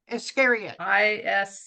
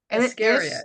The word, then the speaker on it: Iscariot: Iscariot. Iscariot.